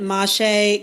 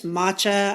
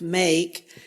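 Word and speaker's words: mâche: I pronounce it mache. Could pronounce matcha. I don't think it's pronounced make, but it's M-A-C-H-E.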